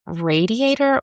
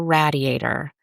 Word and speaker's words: radiator: But is it radiator or radiator? I remember the realtor and the contractor pronouncing it rat and not ray or did they call it a radiator?